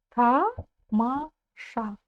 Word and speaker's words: тамаша: Тамаша. Тамаша. Ударение на последний слог.